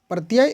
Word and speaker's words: प्रत्यय: आपका प्रति या कि इसका उच्चारण प्रति प्रत्यय का तो प्रति य इस तरह से होगा तो प्रति आपका इसमें